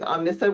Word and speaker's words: Omnissa: please absolutely hi I'm Christina uh with Omnissa which you haven't heard it said before that's